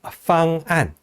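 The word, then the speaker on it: 方案: 위에 있는 것은 팡안, 아래에 있는 것은 반간이 됩니다. 똑같이 FANGAN 뭐 이렇게 써 있습니다만 위에 거는 FANG와 안 하는 것을 나눠야 되는 거고 아래 거는 판, 간 이렇게 나눠서 음절을 구별해서 발음합니다.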